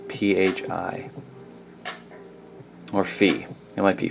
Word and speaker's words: Phi: It is called Phi, P-H-I, or Phi. It might be Phi. Phi or Phi, but it's spelled P-H-I.